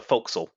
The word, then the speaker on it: forecastle: Yeah, the forecastle is actually how you pronounce it.